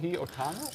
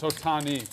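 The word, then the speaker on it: Ohtani: How do you pronounce it? Show. Well, it's Otani. I think Otani.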